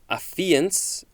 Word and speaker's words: affiance: Next is the first form of affiance. I think I'm pronouncing that correctly according to the pronunciation guide.